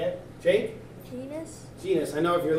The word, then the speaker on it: genus: you say it jake genus genus i know if you're looking at me you probably want to say genius but it's actually gene s there's no i in there and then last group